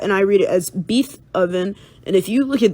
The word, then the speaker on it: Beethoven: it is spelled B E E T H O V E N uuuh beethoven and so some people will look at that, and they will read it as bee toven and i look at